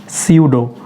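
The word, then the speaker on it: pseudo: कोई भी वर्ड अगर पी इस अल्फ़ाबेट से स्टार्ट होता हो और उसके बाद में एस आए फ़ौरन बाद, यानी वर्ड स्टार्ट होना चाहिए पी से और उसके बाद अगर आता है एस, तो हम लोगों ने पी को साइलेंट कर देना है।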